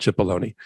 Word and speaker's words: Cipollone: yeah yeah well we there's a difference of opinion on how to pronounce his name but yes you can call it chipolony here no no not sure um okay all right well we'll leave it at that I see it pronounced cipollone by CNN but okay it doesn't matter